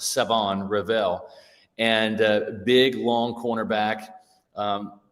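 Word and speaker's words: Shavon Revel: Savon Ravel that's right there's no there's no h in the pronunciation of it's Savon Revel and big long cornerback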